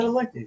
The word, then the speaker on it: Padalecki: Jared Yeah, Padalecki. yeah, that's how you say it. Cadillac, you know. Padalecki.